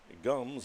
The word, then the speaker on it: Gums: Gums is just how it sounds.